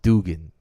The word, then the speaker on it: Dugan: He actually said it's pronounced Dugan. DOO.